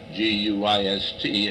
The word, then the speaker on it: Guist: And then the Painters Union came in and did the painting, and the guy's name was G-U-I-S-T, and he pronounced it Guist.